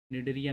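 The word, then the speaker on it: Cnidaria: Coelenterata, known as द निडरिया भी बोलते हैं। ये जो सिलेंट्रेटा टर्म है, सिलेंट्रेटा को नाइडीरिया भी बोलते हैं। साइलेंट रहता है एरिया।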